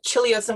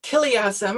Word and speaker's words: chiliasm: beautifully alliterative and then i discovered it was supposed to be pronounced chiliasm i should know that because i grew up in greece so it's children of chileasm which means simply millenarian using the greek for a thousand instead of the latin